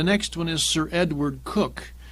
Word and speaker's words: Coke: The next one is Sir Edward Coke, pronounced Cook, spelt Coke.